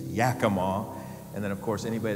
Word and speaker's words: Yakima: Bellevue the DuPont location at Yakama Yakima Yakima what's wrong with me I can't pronounce normal words right let alone city names Yakima and then of course